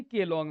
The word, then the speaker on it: Keylong: है, दोनों नदी मिलेंगी केलोंग में। इसकी स्पेलिंग एक्चुअली में KEY है, KEYLONG है। कीलोंग नाम की जगह है हिमाचल प्रदेश में, जहाँ पे चेनाब नदी दोनों नदियों के मिलने से बनती है।